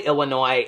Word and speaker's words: Illinois: And then two comments down, you'll go and it'll say the S is silent on Illinois.